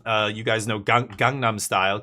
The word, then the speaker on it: Gangnam: Uh you guys know gang gangnam style. Kangnam. Um it's pronounced it's between a K and a G. It's like a hard G.